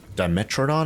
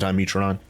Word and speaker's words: Dimetrodon: can't wait okay well i guess i've been pronouncing it incorrectly all this time right dimetrodon i think they said instead of diametron just like that i've